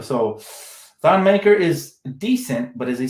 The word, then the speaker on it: Thon Maker: Thon Maker, that's an interesting name. I just see the thing about me, I don't trust guys like Thon Maker, not because his name rhymes with thong, but because he's very sloppy in the paint.